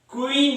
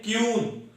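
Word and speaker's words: queen: या बोलते हैं तो 90% लोग क्यू से क्वीन नहीं बोलते हैं, बोलते हैं क्यून। और जब आप क्यून बोलते हैं तो वो गलत उच्चारण माना जाता है।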